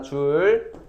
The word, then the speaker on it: 줄: 제이. 뭐라고요? 줄입니다. 줄. J라고 하면 안 되고 50줄이라고 읽어야 돼. J라고 써놓고 줄 이렇게 불러줘야 돼요.